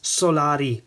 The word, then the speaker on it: Solari: a couple of times already the way to pronounce the brand is Solari and then Udin which is the city or